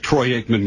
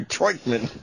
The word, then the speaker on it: Troy Aikman: Wasn't a big jinx that Troy Aikman was doing the game, the former Cowboy? I think Troy Aikman's a queer. Hello. But he gets his name wrong, Troikman.